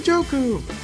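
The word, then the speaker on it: Ngakoue: just remembered how to say his name you're joku um and InStep Chandler Jones for each Big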